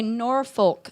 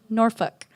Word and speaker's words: Norfolk: I have to say Norfolk Street. Even though the GPS pronounces it properly, it's uncomfortable.